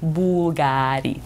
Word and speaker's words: BVLGARI: fool you though it's still pronounced bull gotti phonetically bulgari ceterio's two sons giorgio and constantino are so